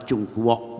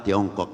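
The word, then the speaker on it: 中国: Dunia dari timur jauh, orang mengatakan Tiongkok, tapi dalam bahasa Mandarin ucapan Chungkwok, bukan Tiongkok.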